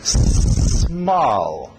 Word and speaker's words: small: S depois o M. Não coloca um E, não é é só small. E para no L. Small.